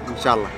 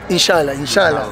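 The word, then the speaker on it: إن شاء الله: Inshallah. Inshallah, yeah. Inshallah es una palabra que usan los árabes para decir Dios proveerá. I hope to miss it when tomorrow. God will provide, yeah, inshallah.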